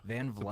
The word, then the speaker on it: Van Vleck: Am I pronouncing the town name correctly? Yeah. Van Vleck.